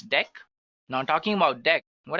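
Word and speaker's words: deque: It is written as dq, but we can pronounce it as dec.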